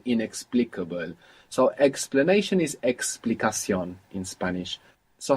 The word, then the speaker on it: explicación: We don't say explanación, but explicación.